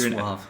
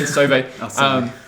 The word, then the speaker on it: Sauvé: Just because I was talking to a friend last night, a fellow composer, Dakota Sauvé, I think is how you say his last name. I thought it was Suave. Suave, yeah, Sauvé.